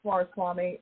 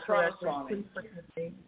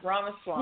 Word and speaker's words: Ramaswamy: I thought it was Swaraswamy, but I could be saying that. It's Ramaswamy. Okay. Yeah, Ramaswamy.